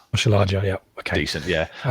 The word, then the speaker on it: Oshilaja: So I've got to try and pronounce the name. It's Paul Hurst's much coveted Deji Oshiala. Oshilaja, yeah.